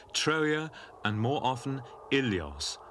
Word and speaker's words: Ilios: In the Iliad, Homer calls the city by 2 names, Troia and more often Ilios, originally pronounced Wilios.